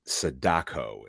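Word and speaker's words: Sadako: So it's not Samara, it's Saddako in Yes. Yeah. Yeah. I didn't want to pronounce it incorrectly.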